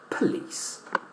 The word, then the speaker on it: police: All right, but the stress is in the second syllable, lis. And the first one is weak. That is to say, it does not have any stress. We say police, police.